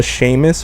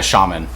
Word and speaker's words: shaman: they what is it the Sheamus or the Shamus the the Sham it was like a shaman yeah Shaman thank you yeah Sheamus I mean maybe they pronounce it that way some place but I don't I no it's a shaman so anyway the shaman